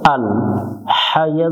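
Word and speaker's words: ٱلْحَيُّ: এরপরে হামজা লাম জবর আল, হাইয়া জবর হাই, আল হাই। এখানে অনেকজনে ভুল করে এটা শক্ত করে হাই, হাই পড়া যাবে না, এটা লম্বা হা, গলার মধ্য থেকে একটু বাতাস বের করে উচ্চারণ করব।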